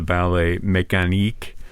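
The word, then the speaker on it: Ballet mécanique: work is the the mechanical ballet or the ballet mechan is that the correct pronunciation yes absolutely yeah um which uses I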